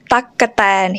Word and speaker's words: ตั๊กแตน: it's not the case there are actually three syllables here and this is why because gokai here is linger syllable so we use gaukai twice even though it's written